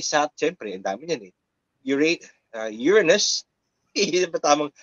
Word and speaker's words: Uranus: Uranus, tamang pagka-pronounce, Uranus, Neptune, tsaka yung Pluto is 1 out of 43,999 packs.